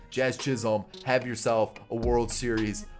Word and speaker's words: Jazz Chisholm: You know how electric that is by Jizz Chisholm? I know I said his name wrong. I did it on purpose. Jazz Chisholm, have yourself a World Series.